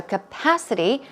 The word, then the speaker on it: capacity: be stored or contained so capacity the stress goes on the second syllable and some synonyms are